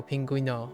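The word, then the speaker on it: pingüino: Oh, pinguino.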